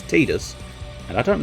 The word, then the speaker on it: Tidus: uh i must admit titus is quite fun and i will only ever call him titus because his official pronunciation is tidus and i don't like